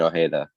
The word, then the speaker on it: Ojeda: Ajada. Have I said it right? I hope I have. It's Ajada. I think the Paraguayan Tricky Tree did confirm it's pronounced Brian Ojeda.